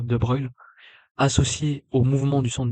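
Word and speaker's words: de Broglie: La longueur donte de de Bruil, ça s'écrit de Brogly mais censé dire de Bruil associé au mouvement du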